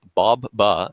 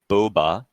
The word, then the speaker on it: Baba: My wife, Kabi Sea Chemicals, told me that I need to donate a second time to clarify that my name is pronounced as Bob-ba, not Boba.